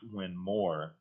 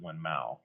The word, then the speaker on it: Winmau: Just like it's Winmore versus Winmau. Yeah, I should let people know it's spelled Winmau, WINMAU. But yeah, it's that accent. It's and we go ow, they go or.